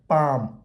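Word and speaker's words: palm: पाम L silent हो गया। ऐसा बीच में एल आ गया समझो साइलेंट हो जाता।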